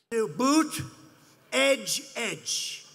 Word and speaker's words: Buttigieg: Boot, edge, edge.